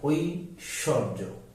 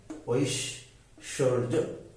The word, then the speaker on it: ঐশ্বর্য: হয়েছে তারপরে ব ফলা মাঝে বা শেষে অনুচ্চারিত মানে বফলাটা উচ্চারণ আসবে না তখন দুইবার হবে যেমন ঐশ্বর্য ঐশ্বর্য বিশ্বাস বিশ্বাস বিদ্যান বিদ্যান